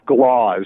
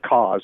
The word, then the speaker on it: Cauz: I called myself Glauz instead of Cauz once.